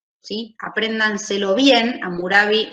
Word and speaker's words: Hammurabi: aprendan se lo bien amurabi se escribe raro hammurabi no era una ciudad